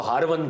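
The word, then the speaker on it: Harvani: Iran के अंदर उसको हरवन कहते हैं आमतौर पर लोग इसको मिस प्रोनाउंस करते हैं यह हरवन है जगह और आपके मुर्शिद करीम ख्वाजा उस्मान हार्वनी लोग इसको हारूनी पढ़ते हैं ख्वाजा उस्मान हार्वनी आप उनके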